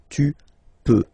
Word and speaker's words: peux: peux, okay, then tu, tu peux, same pronunciation and same spelling or writing, okay, P-E-U-X, okay, don't pronounce the final X, tu peux, okay, je peux, tu